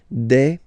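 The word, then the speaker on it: bœufs: So you just add this s but then pronunciation changes quite much because you get deb.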